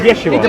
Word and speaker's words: Yeshua: His name is Yeshua. But you pronounce it.